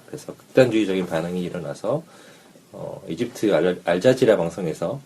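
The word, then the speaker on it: الجزيرة: 그래서 극단주의적인 반응이 일어나서 이집트 알자지라 방송에서 이 발음을 잘해야 됩니다.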